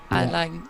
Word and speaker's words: aligned: Aligned. Okay. The G in there, but the G is silent, so it's politically aligned.